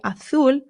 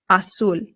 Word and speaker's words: azul: So you can say azul or azul. Both are totally fine, but make sure that your U is being pronounced U. Always U.